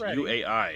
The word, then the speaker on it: UI: So, Oh, how would you pronounce it? It's U AI.